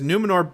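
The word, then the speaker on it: Númenor: uh Dan Edwards in the chat room says numenor became what they ended up over many centuries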